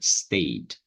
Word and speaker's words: stayed: coloco Ed piquei certo e o certo a pronúncia certo seria assim ó stayed stayed então I Stay Eu fiquei em casa